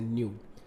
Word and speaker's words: nu: इसको न्यू बोलते हैं, ये जो सिंबल है ना इसको न्यू बोला जाता है, ऐसे न्यू, जैसे KNEW होता है ना न्यू, तो इसको न्यू से प्रोनाउंस करते हैं।